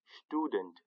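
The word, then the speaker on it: Student: یو بل مرکب توری هغه دا چې د اس مخته که همیشه پی یا ټی راسي په الماني ژبه کې، یا پی راسي یا ټی راسي، هغه همیشه په شین تلفظ کېږي. لکه شټودنټ یعنې زده کوونکی.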